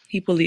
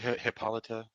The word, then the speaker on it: Hippolyte: Hippolyte is how you say it with my in Creole. Um. Okay, Yeah. Hippolyte. Okay. Um. Some people say Hippolyta.